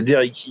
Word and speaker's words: Derek Yee: ouais, il a fait ça s'écrit YEE Derek et puis après YEE quoi, c'est Derek Yee.